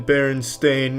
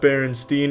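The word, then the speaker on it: Berenstain: It's always been Baron Stain, not Baronstein. Everyone, every everyone, every they all want to pronounce it Steen. But it's Stain. Ever since I was a kid, they call me Steen. It's Stain, though. Just by applying AAM's razor, it's just you've all misheard it and misread it your whole lives.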